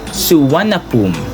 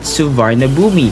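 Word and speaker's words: Suvarnabhumi: just yes by the way guys the correct pronunciation of this airport name is suap not suara boomi or the name itself that we read but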